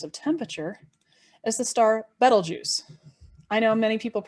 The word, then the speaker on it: Betelgeuse: temperature is the star betelgeuse i know many people mispronounce it as beetlejuice but no notice it only has one e right after the b so like the word bet so bet l so